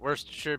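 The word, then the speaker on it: Worcestershire: love that little video I pronounce it worse to sure because that's how I was told that the natives pronounce it but uh who thought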